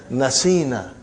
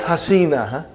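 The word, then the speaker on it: نسينا: you pronounce now brother you will pronounce as naseena and not hasina okay and then rest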